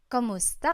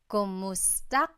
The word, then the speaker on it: kumusta: you in Tagalog, it's Kamusta ka? Kumusta ka? So it's spelled K-U-M, kumusta ka. But sometimes you might hear some people say kamusta ka, like it's a K-A sound. Kamusta ka?